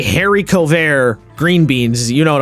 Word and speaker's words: haricot vert: Haricot vert, right? You have to on it. Haricot vert. Haricot vert, yeah. You have to say the H like at the back of your throat.